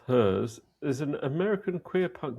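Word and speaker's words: HIRS: Uh, the Hers Collective, uh, formerly known simply as Plus Hers Plus, pronounced Hers, is an American queer punk musical collective based in Philadelphia.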